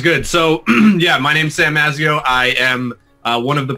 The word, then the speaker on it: Mazzeo: Sam Mazzeo. Mazzeo is an Italian name. Yeah, you pronounced it correctly. Usually people say Mazzeo or Mazzeo. Mazzeo is correct.